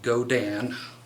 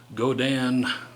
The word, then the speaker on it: Godin: And yes, the company is pronounced Godin, despite it looking like Godin, as some people here on the internet pronounce it.